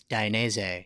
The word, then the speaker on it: Dainese: How many different ways is there to pronounce that word, by the way? It's Dainese.